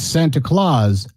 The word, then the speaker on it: Santa Claus: I was incorrect in the pronunciation. It's Santa Claus, the movie.